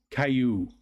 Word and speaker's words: Caillou: makes a y sound blue Caillou rhymes with blue blue Caillou what are